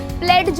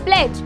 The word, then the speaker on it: pledge: जैसे कि मैं बोलूँ प्लेज, तो यहाँ पे PLEDGE इज the correct spelling, but हमने प्लेड्ज नहीं बोला, हमने बोला प्लेज, तो यहाँ पे D हो गया साइलेंट।